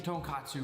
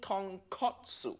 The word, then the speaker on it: tonkotsu: making tonkatsu ramen tongkatsu nephew nick i think you mean tonkotsu in japanese ton min pog kotsu mean bone so tonkotsu ramen makes sense it